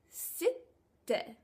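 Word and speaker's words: ستة: 6 is sitte. 2 syllables.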